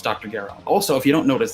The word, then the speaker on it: Gero: And Gero is how it's pronounced in Japanese. So it's Dr. Gero.